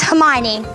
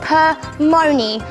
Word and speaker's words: Hermione: stage with her presence my name is hermione a professor once called me per money i don't like it when people get my name wrong i study at hogwarts